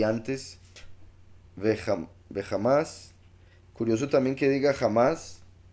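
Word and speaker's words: חמס: es que la palabra jamás aquí aparece en hebreo como uno de los verbos. Es curioso que se pronuncie jamás, igual que ese grupo que está haciendo esto, violencia.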